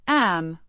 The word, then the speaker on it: at: Pronounced A. similar to the English are in expressing surprise.